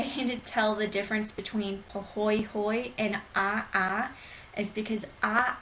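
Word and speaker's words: pāhoehoe: It is poy hoy lava and it resembles braids and ropes. So, again, pronounced poy hoy.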